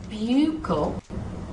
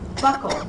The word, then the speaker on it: buccal: and it's like, no, it's not buccal, it should be buckle, like belt buckle, buckle.